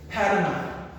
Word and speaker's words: Panama: Panama, Panama, Panama is like Canada, very similar in pronunciation, and we have Panamanian is the mononym or nationality, Panamanian, and Spanish the spoken language.